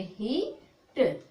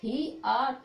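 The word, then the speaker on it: heat: तो इसको कैसे, इतना पढ़ोगे, ही ट, ही ट, ही आ ट नहीं पढ़ोगे, ही ए ट नहीं पढ़ोगे, ही एट, ही एट नहीं पढ़ोगे तो गलत हो जाएगा।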